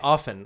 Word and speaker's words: often: We just had this discussion on my show because I say often. I don't pronounce the T.